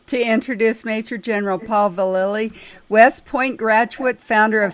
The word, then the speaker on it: Vallely: thank you I just have one correction is Vallely Vallely okay very confusing Sharon so I can